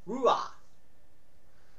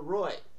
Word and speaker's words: Roy: game three performance by Mr wah or as the Rangers call him Rua or Roy well the English language guys can pronounce his last name which was what of